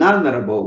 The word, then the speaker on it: honorable: In an honorable way. In an honorable way. He carried his duties out in an honorable way. Tá? Honorable também tem um H silent, um H mudo. Esse H não é pronunciado.